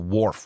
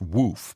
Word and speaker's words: Worf: I don't call Worf Woof because I'd never heard his name before, and I don't get to decide that Mrs.